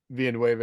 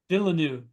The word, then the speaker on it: Villeneuve: It's Rendezvous with Rama that Villanueva is going to make.